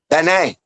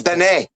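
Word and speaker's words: בן: Ben. It's just No, it's not. It's not. Yes, it's ben.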